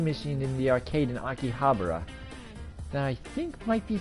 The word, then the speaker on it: Akihabara: For the millionth time, it's Akihabara.